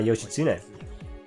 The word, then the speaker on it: Yoshitsune: Like what I did with my Yoshitsune. And I did not get that pronunciation wrong because I'm Japanese.